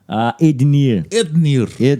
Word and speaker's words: Ednir: Ednir. Que o D é mudo. D é mudo. Não vai falar com I.